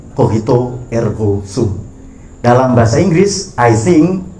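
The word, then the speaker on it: cogito ergo sum: Eh, pernyataan tadi ee saya bacakan cara baca yang benar ya. Dalam bahasa Latin Kohito ergosum.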